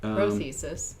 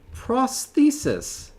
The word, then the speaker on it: prothesis: it yes it is prothesis prothesis prothesis okay prothesis oh or less commonly prosthesis so indeed is the addition of a sound or syllable at the beginning of a word so uh so prosthesis is also acceptable even though they actually